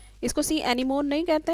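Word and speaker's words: sea anemone: पहला ऑर्किड का एग्जाम्पल, दूसरा बार्नेकल्स का, तीसरा कैटल एग्रेट का और चौथा एग्जाम्पल सी एनीमनी का। इसको सी एनीमोन नहीं कहते हैं, इसको सी एनीमनी प्रोनाउंस किया जाता है।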